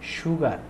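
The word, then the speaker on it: sugar: loves T with সুগার এটার উচ্চারণ অনেকে এটা প্রোনাউন্সিয়েশন অনেকে সুগার বলেন কিন্তু এটার উচ্চারণ হবে সুগার মানে তালুব শরম উচ্চারণ হবে এখন বলা হচ্ছে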